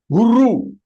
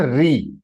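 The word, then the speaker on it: ऋ: Now, ru. It is not re. Many of them and many Sanskrit teachers are teaching this as a re, which is wrong. It is in Hindi, it is re, not in Sanskritam. In Sanskritam, it is ru.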